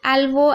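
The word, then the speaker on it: elbow: एल्बो एल्बो में भी देख रहे हैं आप ई से ए हो गया। ई को ए पढ़ रहे हैं।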